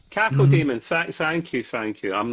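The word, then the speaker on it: Cacodemon: Um, it's got a floating and I never name I never know how to pronounce this one in Demons. Code Demon. Cako Demon.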